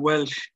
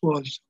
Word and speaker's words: Welsh: And by that stage, this man here, John Welsh, now we in Waterford it's called Welsh, it's not pronounced Walsh, I call him John Welsh, as everybody else in Dunmore East would call him.